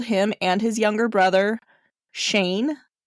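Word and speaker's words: Cheyne: 1988, Chevy's parents pulled him and his younger brother Shane. I believe that's how you say it. It's spelled almost like Cheyenne, like C H E Y N E. So, I don't know. Shane, right? I don't know.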